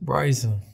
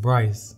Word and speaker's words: Bryson: Well, how you say it? Bryson. You said Bryce.